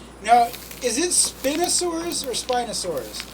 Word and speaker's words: Spinosaurus: Now, is it Spinosaurus or Spinosaurus? I call it Spinosaurus because of the spine, but I honestly think it's pronounced Spinosaurus.